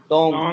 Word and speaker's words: Deng: For doctor, DONG, टोंग, टोंग। इसी से थोड़ी देर पहले में हमने कहा था DENG, वो जो हमने नाम टंग शाओपिंग, DENG, टंग बोले, टंग, हाँ टंग, तो गाफ की साउंड है।